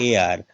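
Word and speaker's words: heir: इसमें देखिएगा एच ई आई आर, ई से पहले अच है, क्या बोलते हैं, ए आर, अच क्या हो गया इसमें, अच हो गया साइलेंट।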